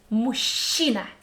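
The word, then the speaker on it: машина: teeth chassis next word mushina this is my man ato mushina do you hear the syllable in the middle she sound again so combination of letters and we come up with again mushina repeat with me then you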